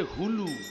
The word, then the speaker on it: হুলু: শব্দটা মুখে করে করলেন এটাকে কি বলে উলু নয় সবাই বলে উলু বইতে লেখা আছে হুলু হু মাথায় ঢুকলো হু লু উলু বলবেন না এটা ভুল কথা হচ্ছে উচ্চারণটা হবে হু মায়েরা যদি হুলু ধ্বনি